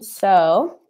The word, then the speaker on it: sew: not familiar to so the pronunciation so is when you have a needle and thread yeah so on them